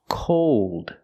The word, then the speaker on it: cold: sound now we can compare these two words called and cold the first word is the a sound a a called and the second word word is the o sound plus the dark L cold again the first